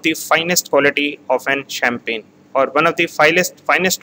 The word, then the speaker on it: Champagne: Champagne, here G word is silent, Champagne, Champagne, Alsace, Loire, OI is pronounced as Va, Loire, Burgundy, Bordeaux, Côte du Rhône, Languedoc, and Provence.